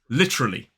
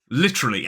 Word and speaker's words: literally: all British people but many British people cut that first schwar out and just make it three syllables literally literally and that is the pronunciation I'm going to be using through the rest of this lesson literally three syllables but if you prefer